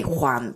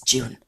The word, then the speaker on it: Juan: and she goes well she said it's spelled ju UA an and H we would say Juan but he swears it's June and I was like